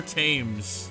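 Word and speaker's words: Thames: to go back across the trusty River tames that's how they say it right so so far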